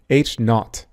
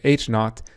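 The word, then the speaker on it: H0: the subscript and it's pronounced H not this would be like the the British way of saying zero so H not or the null hypothesis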